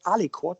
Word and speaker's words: aliquot: don't specify it so instead of part i can say the word alicort which just simply sounds nicer and you spell it as ali quote a l a-l-i-q-u-o-t so